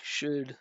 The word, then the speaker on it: should: We say should should is without an L. Yes, should is without a L. Um, it's just uh like push, should push, um, foot.